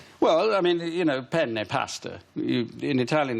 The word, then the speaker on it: penne: But if you say penne, which is one N, you're asking for a penis.